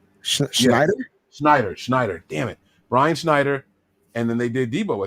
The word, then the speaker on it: Schneider: coordinator uh brian i always say his last name wrong schodenheimer schneider schneider schneider damn it brian schneider and then they did debo at the end